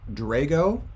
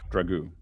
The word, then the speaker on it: Dragoo: I think his last name is pronounced Drago. Is that correct? Dragoo. Thank you.